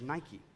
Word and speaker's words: Nike: heard the word nikkei the way you pronounce the word in English is Nike like you always thought